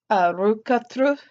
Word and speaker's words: rökkatru: hear it or not the first ones Icelandic root cut through and even in Norwegian it's still pronounced root cut through and I've noticed that